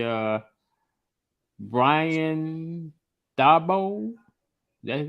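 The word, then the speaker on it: Daboll: to go ahead I would say uh Brian Dabo that's how you pronounce his name yeah for the Giants for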